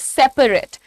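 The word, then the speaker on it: separate: पी ए आर ए टी ई इट इज सेपरेट सेपरेट इसका मतलब अलग-अलग not together एक और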